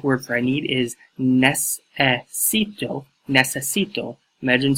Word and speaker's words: necesito: See the pronunciation right there. Number 2, the Spanish word for I need is necesito, necesito.